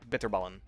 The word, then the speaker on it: bitterballen: little snack bitterballen uh most people don't really struggle with this they just say kind of like bitterballen uh that's close enough if you want to take it up a notch enunciate the tea very clearly bitterballen everyone's favorite old lady